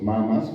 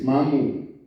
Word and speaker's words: mamu: hay los los los los mamas o mamos que también t mal oímos muy mal es mamu entonces oimos mama o mamo que es el el